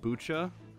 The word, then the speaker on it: Bucha: so i think his name is actually pronounced bucha because apparently all the kikwis are named after varieties of tea so he's probably based on like kombucha and so machi is